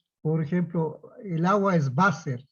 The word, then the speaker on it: Wasser: Por ejemplo, el agua es Wasser. Se escribe con W, pero se pronuncia como una B chiquita, Wasser. Entonces, el Wasser, la W tiene que estar con mayúscula, porque si no es una falta de ortografía.